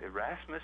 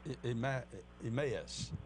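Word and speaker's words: Emmaus: on the road to arasmus I believe it's pronounced emus emus okay I put an r in there and um that you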